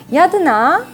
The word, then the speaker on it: Ratana: this name so much yaduna instead is a the myanmar pronunciation of ratana which is treasure and